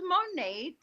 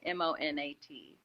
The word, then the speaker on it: Monat: the name of the stuff again so it's monat and it means modern nature so how do you spell it mod no m-o-n-a-t and uh i have